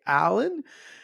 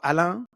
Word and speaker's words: Alain: name is Alain, that's more like a French pronunciation. I don't really say Alan, but Alain. I try to, when people meet me for the first time, I introduce myself even in English as Alain.